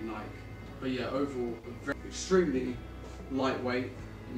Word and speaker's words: Nike: I know some people pronounce it Nike, but it's definitely Nike.